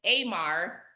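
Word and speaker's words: אמר: And it's pronounced Amar, but it's spelled Omer, the same as this dry measure.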